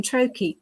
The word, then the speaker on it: Troy: you didn't know already Troy rhymes with hokey kokei we can be really